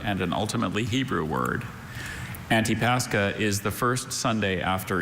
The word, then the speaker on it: Antipascha: Antipascha, or Antipascha.